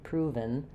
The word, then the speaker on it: proven: proven proven um I'm not really doing a strong e there not proven but rather proven proven my v to n sound is very reduced for the vowel. So I have my stressed first syllable proven.